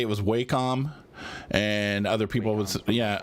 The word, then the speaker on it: Wacom: on that no idea Wacom what yeah it's pronounced Wacom I swear it's pronounced Wacom that is how they pronounce it I would